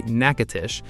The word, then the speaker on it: Natchitoches: Natchitoches, and let's settle it now, the locals say Natchitoches, was founded in 1714, 4 years before New Orleans existed.